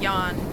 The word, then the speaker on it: Jan: But in in Fazmophobia, Yan is how that's pronounced.